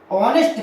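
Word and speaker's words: honest: आपका बहुत सारे हैं ऑनेस्ट क्या है यहां पर एस साइलेंट रहता है ठीक है अगर हुआ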